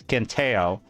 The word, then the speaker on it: Quintheo: I have this video from this username on YouTube, spelled Quintheo. I'll pronounce him as Quinteo, and I'll put a like on this just because I hate Pirate Software's guts.